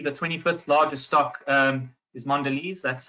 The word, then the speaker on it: Mondelez: And then lastly, the 25th largest stock is Mondelez. That's how it's pronounced apparently.